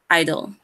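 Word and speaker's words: (G)I-DLE: Last one, Idol. Silent G Idol.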